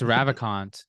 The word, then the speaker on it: Ravikant: Naval Ravikant. How do you say his last name? I think Ravikant? it's Ravikant.